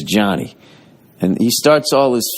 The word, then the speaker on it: Gianni: But it's this guy, Johnny, but it's spelt the Italian way. And he's out of San Francisco, and he goes, like it looks like it almost looks like Giovanni, kind of.